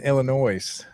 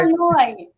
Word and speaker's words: Illinois: on over in in Illinois over there. Oh gosh, I also I love that you say Illinois with an S. The S is silent, right? Ah, okay. Illinois.